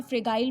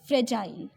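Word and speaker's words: fragile: काफ़ी बच्चे इसे फ्रेगाइल बोलते हैं. इट्स नॉट फ्रेगाइल, इट्स फ्रेजाइल.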